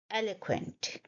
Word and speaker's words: eloquent: the day, which is eloquent. Eloquent. Let's understand the pronunciation first. It is a three-syllable word, el, a, quent. El, a, quent. You will stress the first syllable, el, ella, eloquent.